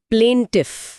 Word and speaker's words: plaintiff: प्लेंटिफ। प्लेंटिफ। हाँ।